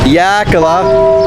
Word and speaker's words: Xilitla: Yeah, there it is, the pronunciation of the town, Yakala.